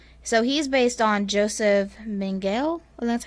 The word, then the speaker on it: Mengele: yeah so yeah so he's based on joseph mengele and that's how you say it so he